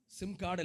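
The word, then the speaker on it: שמחה: என்ன வார்த்தை என்ன சொல்லுங்க சிம் கார்டு இல்ல சிம்கா அந்த ரிஜாய்ஸ் என்கிற வார்த்தை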